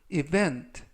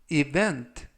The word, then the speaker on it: event: 해야 할 업무가 많다라는 뜻이 되겠습니다 2번 표현은 event event event라고 발음하시면 되겠고요 이때 강세는 가운데 부분에 있는 알파벳